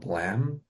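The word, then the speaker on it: Blame!: it's a manga series called Blam, I think is how it's pronounced. It literally is spelled blame. It's by like blame with an e at the end. Yeah, I think it's pronounced blam though in Oh, I see.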